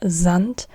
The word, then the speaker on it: Sand: in English is the Zant again it's it's not there s but Zant Z not s but Z there Zant there Z and so